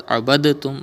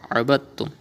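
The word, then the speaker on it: عبدتم: In the same way, abadtum. You will not read as abadatum, but abadtum.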